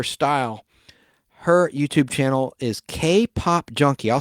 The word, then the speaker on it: KPOP_JUNKI: Her YouTube channel is K-Pop Junkie. I'll spell it for you because there's an underscore, but it sounds like that, K-Pop Junkie.